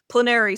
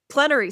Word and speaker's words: plenary: Plener session. No. Plenary session. Plenary. Right. Right. A plenary. I always want to say like plenary like canary.